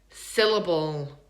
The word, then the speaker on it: syllable: We're going to think about where is the schwa in the word syllable. Syllable. It's in the second one. Syllable. Even the third one is reduced, right?